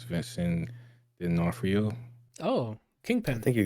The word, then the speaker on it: D'Onofrio: But it's Vincent D'Onofrio. Oh, I Kingpin. think you got it first try. Yeah, Vincent D'Onofrio.